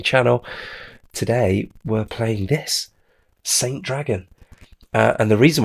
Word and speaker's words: ST: I'm calling it. I don't know if anyone else pronounces it that way, but the ST offline tournament.